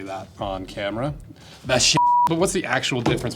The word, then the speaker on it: Vachetta: It's a French-based word. So let's see how the French say it. Vachette. Vachette. That sounds like I should not say that on camera. Vachette.